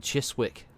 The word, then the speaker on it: Chiswick: It's like if you ever see Chiswick, it's written Chiswick, but it's just Chiswick.